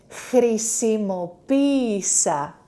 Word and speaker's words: Χρησιμοποίησα: This E, ita, alone, E, and the last syllable, sa. Χρησιμοποίησα. Χρησιμοποίησα.